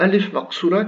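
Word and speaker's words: ألف مقصورة: Et le alif maqsoura qui ne fait pas partie de l'alphabet, c'est pour ça qu'il est sur la deuxième ligne, c'est la première ici, qui se prononce comme un alif, A, mais qui s'écrit comme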